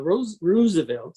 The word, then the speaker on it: Roosevelt: convention so roosevelt uh rose roosevelt as he's pronounced it created his own blankety